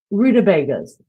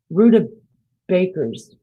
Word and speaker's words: rutabaga: Rutabagas. Rutabakers. No, I call them rutabagas. Did I say it right? That's how it's pronounced.